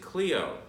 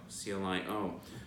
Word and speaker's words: Clio: You would pronounce it Cleo, C-L-I-O, muse of history. And there's some streets in the Garden District. We call them the Muses Streets because they're named after the 9 muses. And you mispronounce almost every single one of them. So instead of saying Cleo, you say Clio.